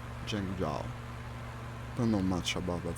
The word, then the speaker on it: Zhengzhou: I think that's how it's pronounced, should be pronounced like that, Zhengzhou.